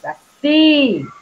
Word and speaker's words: saci: Qual é a sílaba forte?